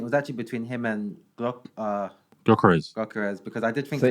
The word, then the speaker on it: Gyökeres: I hear from my Balkan friends that a lot of people mispronounce his name. Like I just can't quite. I keep saying Gyökeres. It's Gyökeres, something like that.